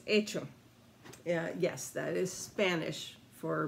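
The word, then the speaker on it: hecho: or done it's not hey cho which someone online uh on youtube how to play video called it hey cho the entire time it's the h is silent it's itching and actually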